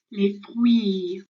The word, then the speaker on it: les fruits: Okay, so we don't pronounce the R sound or the T and the S. So my turn, les fruits, your turn. Good, okay, so it's not les fruits, okay, or les fruits, okay, we don't pronounce any of those letters, so it's les fruits, okay.